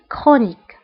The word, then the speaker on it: chronique: فانتبهوا بالنسبة للكرونيك فهنا سي اش كنطقوها بكا une maladie chronique.